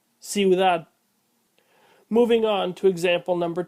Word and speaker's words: ciudad: Note that the second weak vowel is pronounced more fully than the first. Cuidado, ciudad.